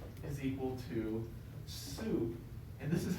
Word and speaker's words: sup: know so so so s is equal to soup and this is how we literally say it